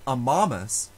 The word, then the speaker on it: amamus: here are some examples in the word amamus we love the second to last syllable has a long letter a and so it is stressed however the word